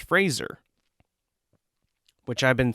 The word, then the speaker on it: Fraser: He says in this interview that it's pronounced Fraser, like razor, but Fraser.